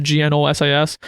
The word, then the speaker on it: Gnosis: plot point with a drug called Gnosis or Gnosis. I don't know, it's pronounced Gnosis, which the bad guys take, and whenever they overdose on it, they turn into demons.